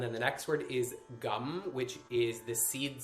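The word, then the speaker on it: गं: which is the root chakra um and the syllable is gum so it's um basically pronounced like like chewing gum gum you may also hear it pronounced as gun like gun um you may also hear it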